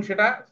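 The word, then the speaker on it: city: আবার এখানে দেখ সিটি সিটি। সি এর পরে আই আছে সেন্ট সেন্ট সি এর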